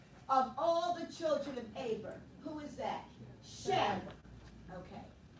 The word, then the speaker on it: Eber: Eber is, it's spelled E-B-E-R, but it's really Aber.